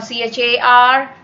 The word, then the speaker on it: char: varchar well char or c-h-a-r where you can pronounce this car or char it's up to you and well char is